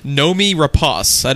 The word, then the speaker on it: Noomi Rapace: how to correctly pronounce her name it is Nomi Ros I is how you pronounce your name I was way off what